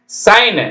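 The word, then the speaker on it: sign: consignment கண்ணு சை இன் மென்ட் ஜி ஜி எழுதணும் உச்சரிக்க கூடாது சி ஓ என் கண் எஸ் ஐ சை இன் consignment consignment சைன் எஸ் ஐ ஜி என் சைன் கையெழுத்து போடுறேன் இல்லைங்களா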